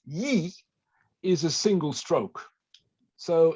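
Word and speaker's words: 一: Well, it's simply to do with the fact that in Chinese, the number 1, which is pronounced yi, is a single stroke.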